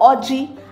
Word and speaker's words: Oji: Number 8, Kolanut or Oji, as it is pronounced in Igbo, has a unique position in the cultural life of Igbo people.